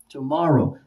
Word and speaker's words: tomorrow: And of course, tomorrow is also on the second one.